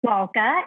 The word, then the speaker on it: Lalka: will start there um it's l-a-l-k-a so it's lol and then cup and this actually might